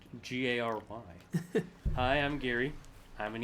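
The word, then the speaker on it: Geri: has to be uh Gary just because his name his name is just it's spelled g-e-r-i yeah but it's pronounced g-a-r-y hi I'm Gary I'm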